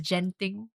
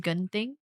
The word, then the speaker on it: Genting: We pronounce it as genting. And for all my life, I did not know that it's supposed to be pronounced ging until my Malaysian classmate told me like in uni.